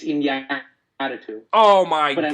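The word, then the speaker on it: Iñárritu: Did I pronounce that right? It's Inarritu.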